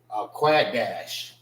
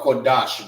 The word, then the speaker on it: Qadash: This is Qua and Dash. All right, which is pronounced together. It ain't dash, it's Dash. Qua, Dash. All right. Many people may look at that and be like, oh, that's Qadash. Quad dash, whatever however they use it, all right, but it's not pronounced the right way, all right. When we say the A's, we say ah, all right.